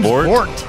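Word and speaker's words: Vordt: the the debuff frost fite how do you pronounce his name his name vort Gund we got Gund and vort thanks Mom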